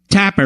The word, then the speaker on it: Tapper: Tapper rhymes with clapper.